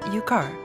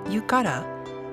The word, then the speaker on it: Yukar: Yukie noticed that the Ainu words written in Japanese were different from the actual pronunciation, such as Yukara, which is pronounced Yukar.